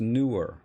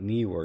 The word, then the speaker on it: Neewer: uh the newer it's it's pronounced newer actually it's not neewer even though it's spelled that way uh the the guy